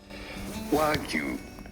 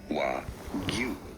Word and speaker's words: Wagyu: How do you go about pronouncing this word? Wagyu. Wagyu.